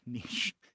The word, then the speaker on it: niche: Which often gets mispronounced as niche, but niche.